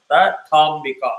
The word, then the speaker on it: Tathambika: Tathambika Tha is hard. Tathambika.